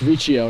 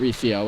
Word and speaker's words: Riccio: It's Riccio, not Riccio, as I've been saying.